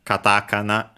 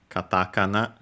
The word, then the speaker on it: katakana: in hiragana, but in katakana. By the way, this is the pronunciation of katakana. Again, katakana. So again, second to last syllable, but and the meaning